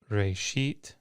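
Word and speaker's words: רֵאשִׁית: So in the word reshit, you see that the aleph has no vowel. It is simply silent. It's quiescent. So when you pronounce the word reshit, you're not actually pronouncing that aleph.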